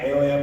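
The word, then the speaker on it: heir: 하나님의 자녀됨을 하나님 나라의 유업의 상속자가 됨을 상속자라는 단어가 에어야 반서가 기쁘마 H-E-I 아닌가 그래. H가 묵음이야. 에어.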